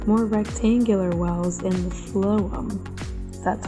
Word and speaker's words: phloem: Then after the tree leaves out, the sapsucker begins making shallower, more rectangular wells in the phloem. That's how you pronounce it.